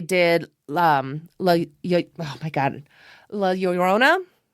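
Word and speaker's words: La Llorona: I always have to stop and think about it because I know how it's pronounced, but my mouth is like we're going to pronounce all the L's. We don't do that.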